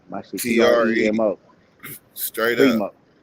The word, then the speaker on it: Premo: not get it is Primo is spelled two ways. Y'all gotta let them know it's PRE, not PRI. My shit PREMO.